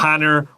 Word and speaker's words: honor: Number one, pick up your pen, cross out that H right now. 不要讲 honor，拜托。 Yeah, honor. We might say it is an honor to 怎么样怎么样怎么样, and we say and because 这个 H 没有发音。